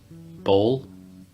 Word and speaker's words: bowl: Like, I might confuse it with ball. Let's actually just say those really quick. So, bowl, then ball. It's like bowl, ball, bowling ball. Bowling ball.